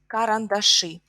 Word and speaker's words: карандаши: So pencils is карандаши. Карандаши. Карандаш, is stressed. Карандаши, и is stressed. Карандаш, карандаши.